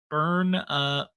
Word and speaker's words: Bernalillo: Bernalillo County.